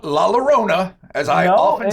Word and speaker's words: Llorona: Not La Llorona, as I often said in my misspent youth. Llorona. Yep. I'm understanding L's and Y's slowly but surely. I change it all the time.